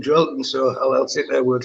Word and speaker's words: Joelinton: Well, that's how the Portuguese pronounce it. If you listen how Bruno speaks about him, he calls him Joelinton, so I'll take their word for it.